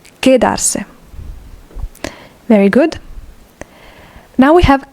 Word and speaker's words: quedarse: Remember that if a U is between a Q or a G and an E or an I, and it doesn't have the two dots on top, then the U is not pronounced. In this case, it's quedarse, not quedarse. Quedarse.